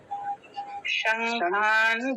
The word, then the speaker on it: शङ्खान्: शङ्खान् दध्मुः। नकार हलंत आधा, आपने बोला शंखान, ना नहीं, शंखान।